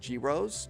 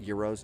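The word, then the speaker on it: gyros: the the Greek uh I guess it's pronounced girros, not euros, girros, and they post pictures of these things that look really really good.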